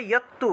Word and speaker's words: যত্তু: তারপর দেখুন যত্তু আছে, উচ্চারণ হবে ইয়ত্তু, ইয়ত্তু, ইয়ত্তু প্রত্যু, তয়ের